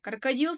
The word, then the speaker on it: крокодил: Ал крокодил сөзінде соңғы үшінші буынға түсіп тұр.